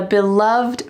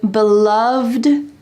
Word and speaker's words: beloved: Let's talk about this lovely expression, beloved matriarch. Here, this first expression has an ED at the end, but listen to how it's pronounced. Beloved. There is a V and a D side by side.